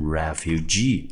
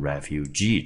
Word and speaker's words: refugee: 流亡者，第一个音节在 R-E 念成 re，F-U 念成 few， G-E-E 就念成 G，这个字就念成 refugee，注意它的重音节在我们的第三音节。